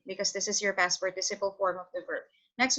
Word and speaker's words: participle: The base form or the past participle? I don't know how to say it. Participle. It's like participate, but then you have to replace it with PLE.